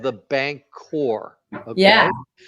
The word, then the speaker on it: Bancor: So he was an advocate for what they called the bank core. Yeah. Okay. And the bank core is spelled BANCOR.